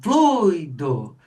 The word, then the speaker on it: fluido: E a gente vai ver por quê que é uma porque é fluido, é uma paroxítona que termina em o, né?